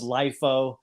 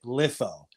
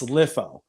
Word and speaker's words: LIFO: we got and it's it's pronounced you know and I know it's such a weird name name lifo people would call this lifo there's no real good way to tell somebody how it's pronounced we called it litho it's litho but anyway uh the